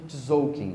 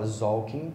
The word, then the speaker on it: Tzolk'in: Todo mundo chama de Tzolk'in, mas eu fui estudar a pronúncia correta, o T é mudo. Então, ou você fala Tzolk'in ou Tzolk'in, sem o T, tá?